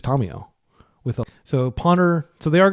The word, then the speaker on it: Tamiyo: And I just want to clarify that I know Americans generally pronounce it Tomio or Tamio, but like she's from the Kamigawa Plain, and they speak Japanese there, and her name is a Japanese name. So I'm going to pronounce it like a Japanese person would, which is Tomio.